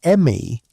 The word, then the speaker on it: me: The ME, pronounced approximately like the English word may, were divine powers or